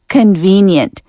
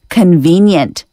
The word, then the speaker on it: convenient: Convenient. 형용사는 편리한, 간판한 뜻인데요. 그래서 편의점은 convenience store라고 합니다. 명사 convenience, C-O-N-V-E-N-I-E-N-C-E, convenience store. 발음 한번 연습해 보겠습니다. V 발음은 아래 입술 살짝 깨물고 V, convenient, convenient, convenience, convenience.